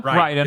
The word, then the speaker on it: Raiden: Raiden or no, Raiden? It's Raiden. Like fucking Mortal Kombat.